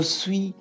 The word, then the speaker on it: suis: Je suis étudiant. Je suis étudiant. I've said we don't pronounce the last s.